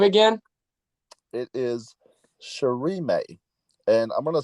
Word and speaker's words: Shirime: of the um what all the syllables will always have the same sound unlike English so it's uh the same May is in anime she is in sushii she may oh my